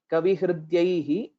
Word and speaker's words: कविहृद्यैः: shloka twice slowly and please ensure you pronounce it right at kavihridyaihi and alankrita padyaihi. It's not padyaihi or padyaihi. So the exact dirgha is one thing which we'll have to keep note of.